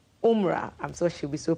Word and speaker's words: Umrah: taking part in the, Maltiti taught me this pronunciation, Umrah. Umrah, I'm sure she'll be so proud of me.